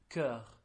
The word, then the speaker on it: cœur: Okay, so the word for heart in French is cœur. Cœur? Yeah, cœur. How do you spell that?